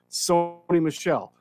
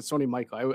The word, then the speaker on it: Sony Michel: sony michelle carlos hyde or is it sony michael i might get that name wrong it might be something you were right the first time oh okay sony michelle there you go um so there